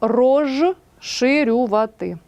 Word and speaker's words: розширювати: шиплячими стають також шиплячими наприклад пишемо розширювати а вимовляємо і транскрибуємо рожширювати так жи в нас дзвінкий